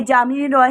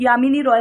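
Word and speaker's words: Jamini Roy: ये जामिनी रॉय हैं, जामिनी रॉय इनको बोला जाता है, वैसे इनका नाम यामिनी रॉय था, बंगाल के ये रहने वाले थे।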